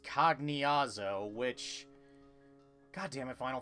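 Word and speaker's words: Cagnazzo: with pronunciations because if because I used to pronounce cognyaza cognyazo as kagnazo but then I learned later it's supposed to be pronounced cognazo which god damn it final fantasy you and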